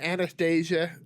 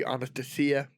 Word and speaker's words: Anastasia: So, uh, Anastasia was how we typically pronounce it here in the United States and I'm I suspect in other English- speaking areas quite commonly, but in Russia it would be anastia.